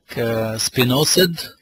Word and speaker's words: Spinosad: Spinosad, it's pronounced as spinosad, is a wonderful organic product on thrips, whiteflies, leaf miners, a lot of caterpillars.